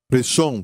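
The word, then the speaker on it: ראשון: Reshon quer dizer primeiro. E se escreve assim, em hebraico, da direita para a esquerda: Resh, Aleph, Shin, Vav, Nun.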